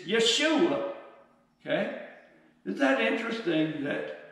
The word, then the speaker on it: Yeshua: His name was actually Yeshua. And Jesus, his name in the Greek is actually pronounced, we don't pronounce the J, it's Yeshua, okay?